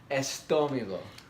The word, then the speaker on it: estómago: Comida per mi estómago. Comida para el alma. Food for the soul. Can't win. Last time she corrected my pronunciation of the word stomach. How are you saying it? Estomago. Yeah, estómago.